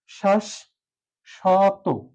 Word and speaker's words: শাশ্বত: এই যে শ্বাস শত সঠিক উচ্চারণ হচ্ছে শ্বাস শত শ্বাস থেমে গেলাম এখানে আরেকটি বিষয় তলাবর্ষ আছে এপাশে তলাবস্য হবে কারণ হচ্ছে কি উচ্চারণটা স এর মত হয়েছে শ্বাস স তত শ্বাস স তত এটি হচ্ছে সঠিক উচ্চারণ শ্বাস এটা হচ্ছে বদ্ধাক্ষর